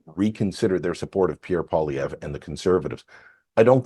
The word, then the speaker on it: Poilievre: Poilievre. That's how you properly pronounce him.